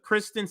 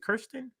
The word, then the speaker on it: Kyrsten: The Kyrsten Sinema segment is up next.